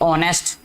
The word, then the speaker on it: honest: अच्छा जी, इसके बाद नेक्स्ट और कोई वर्ड अभी लिखते हैं जी यहाँ पे, ऑनेस्ट, ठीक है, HONEST, ऑनेस्ट, ठीक है। H नहीं इसमें बोला जाता, H जो साइलेंट है।